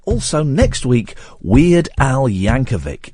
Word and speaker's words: Yankovic: And also next week, Weird Al Yankovic. It's a hard C at the end.